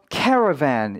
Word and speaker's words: caravan: 먼저 발음 기호를 보자면 강세가 앞에 있는 것을 보실 수가 있죠. caravan인 거예요. caravan 이런 거 아닙니다. 그렇죠? 강세 앞에 있어요.